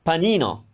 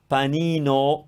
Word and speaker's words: panino: closed no no sandwich panino panino closed porta porta can you